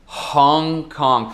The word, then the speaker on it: Hong Kong: Hong Kong, pronunciando o H aí.